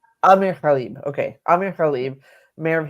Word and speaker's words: Amer Ghalib: How does he pronounce his name? It's Amer Ghalib. Amer Ghalib.